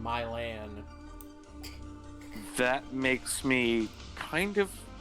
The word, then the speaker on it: Milan: about the fact that Milan Ohio is pronounced in my land that makes me kind